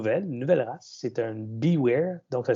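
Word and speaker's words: Biewer: C'est un Beware, donc ça s'écrit Beaver, excusez.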